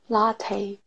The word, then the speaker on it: latte: 라떼 이거가 떼가 아니라 테이예요. 라테. 라테 그렇죠. 이 끝소리가 약간 테이 느낌.